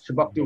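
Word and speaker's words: Chebucto: This Shebuktu Road, Shebuktu Road, Halifax.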